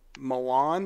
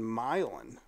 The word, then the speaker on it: Milan: I thought the shootout was in Milan this whole time and turns out it's in milin oh geez lady cut